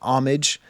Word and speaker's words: homage: in a comment recently, does it hurt you as a French professor to pronounce homage with an H? It does. They don't pronounce H's in French.